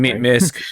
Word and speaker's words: MiSK: In November 2020, the MISK, am I pronouncing that foundation? MISK.